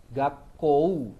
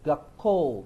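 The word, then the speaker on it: 学校: Nah, ini dibacanya ou u itu dibacanya vokal panjang gapko ya. dibaca jadi gap ko. Bibirnya enggak enggak boleh mendekat, enggak boleh kedengaran kayak kow gak kou itu salah ya. Apalagi dibaca gakou ya itu jelas salah ya.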